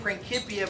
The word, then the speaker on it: Principia: Technically, it's pronounced Principia, but most people pronounce it Principia.